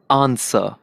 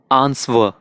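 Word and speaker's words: answer: हम देते हैं विशेष आंसर कुछ लोग मैंने सूंघ कहते हैं इसको आंसवर यही डब्ल्यूबी साउंड इसको बोलते हैं वहीं जो समस्याओं से नहीं बोल have to ignore at silent से आंसर ब्रिटिश में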